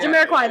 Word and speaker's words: Jamiroquai: Jamiroquai.